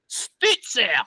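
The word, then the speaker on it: Stützer: Stutzer. See, you know what throws a lot of people off is that U with the 2 dots over it.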